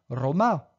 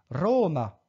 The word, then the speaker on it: Roma: fait très rares là-bas un accent sur la syab en partant de la fin comme dans Roma Europa je ne dis pas Roma ou Europa mais bien Roma et Europa et enfinbas comme dans